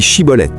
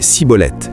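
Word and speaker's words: Schibboleth: Les Éphraémites ne pouvaient pas prononcer le son de Chine dans Shibolet disant plutôt cibolette.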